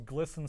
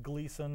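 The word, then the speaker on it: Glisan: I mean, G-L-I-S-A-N does not sound at all like Gleason if you were to actually try to, unless you state it in Spanish.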